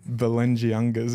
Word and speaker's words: Balenciaga: is you with your but how do you pronounce the shoe name? Balenciagas, you call it, was it?